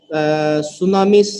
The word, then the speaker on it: tsunami: a tsunami so see when you pronounce tsunamis silent T okay you don't pronounce the letter T tsunami all right now